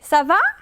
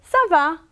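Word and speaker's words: ça va: words Sava and then the way you are saying Sava the pronunciation and the intonation is very important because either you say Sava and then this is the question or you say Sava then this is the answer could you hear that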